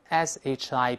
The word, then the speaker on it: ship: 咱们读成 sheep，sheep，但轮船 ship 读成 ship，ship，对吧？